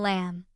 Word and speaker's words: lamb: B is silent after M at the end of a word, like in lamb.